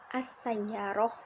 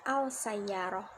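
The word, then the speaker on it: السيارة: Contohnya, pada kata sayyaro diawali al, maka pengucapannya menjadi as-sayyaroh, bukan al-sayyaroh. Dalam hal ini, huruf lam dileburkan dengan huruf sesudahnya yaitu huruf sin.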